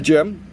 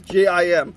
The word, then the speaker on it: GM: The gem, or what's the GM that everyone pronounces GIM, gem, for some reason, especially in the English dub and everything, and just everyone in general.